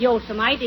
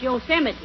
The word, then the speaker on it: Yosemite: these western names right it isn't Yosemite it's Yosemite oh yeah and what